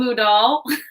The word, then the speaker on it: Moodle: It's called Moodle. I just like to add poodle with it because it adds, it rhymes.